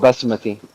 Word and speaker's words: Basmati: a b it's called sorry how do you pronounce it it's called Basmati Bas basti yeah whatever I think you guys